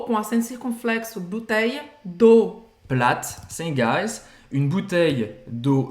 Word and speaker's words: plate: Plate, também a gente não fala o E no final.